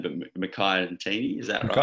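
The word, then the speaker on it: Makhaya Ntini: It was called the Ntini team, after, I can't pronounce his name, but Mackay Ntini, is that Mackay right? Mackay Ntini, yeah.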